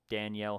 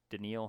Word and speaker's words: Danielle: up with that um Danielle Hunter denil Hunter I don't know how to say it it spelled Danielle but I think it's probably denil um in Minnesota he's